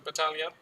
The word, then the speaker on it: Battaglia: Battaglia, Yeah, it's with a G as well. but I think you don't pronounce it I don't know. in Italian. So Battaglia.